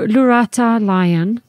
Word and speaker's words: Lurata Lyon: it's that camera because my name is spelled very differently so it's um l-u-r-a-t-a-l-y-o-n lorata Lion but you can people can say it how they wish that they've got every diff every different person pronounces differently so my full name